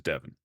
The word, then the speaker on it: Devin: 7 and 11 rhyme with my actual name, which is Devin.